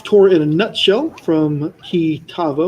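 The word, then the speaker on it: Ki Tavo: in a nutshell from kitavo or kisabo as jd pronounces it this week's hof toy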